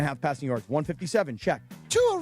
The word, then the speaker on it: Tua: Tua rhymes with Sua.